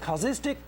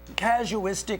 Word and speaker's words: casuistic: Causistic, casuistic, however you want to say it, there's two different pronunciations that you'll run into out there.